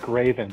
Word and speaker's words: GRAVEN: you introduce yourself to the audience sure it's graven but it doesn't matter people say my name